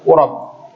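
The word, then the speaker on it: قُرَب: Dan ini adalah bentuk ketaatan yang paling mulia dan bentuk qurab, kedekatan kepada Allah yang paling agung. Ya, bacanya qurab ya, bukan qurb.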